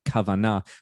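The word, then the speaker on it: כוונה: similar sounding word kavanagh it's got the k sound and the v sound in it kavanagh but it's spelled with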